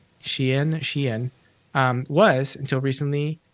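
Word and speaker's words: Shein: pronunciation of your Shayan shayin looks like shine um but I'm told it's pronounced Sheen Sheehan um was until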